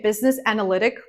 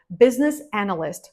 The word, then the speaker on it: business analyst: business analyst business analyst sometimes I hear people say business analytic it's not right business analyst maybe that's your job